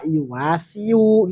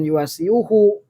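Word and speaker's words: يواصي: yuwasi fa'ala yupailu wasaya yuwasiyu gitu loh saling menolong artinya kenapa karena wazan fa'ala yupailu bimana musyarakah saling maka bacanya yuwasi bukan yuwasiyuhu dap alisikol namanya berat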